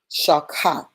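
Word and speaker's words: שחת: Also, shakat is the Hebrew pronunciation.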